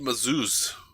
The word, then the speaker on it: Mazouz: David Mazouz. That's the way I've been told that we have to say his name.